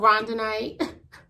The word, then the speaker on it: rhodonite: I don't know why I keep trying to say it with a C. This is called rhodonite.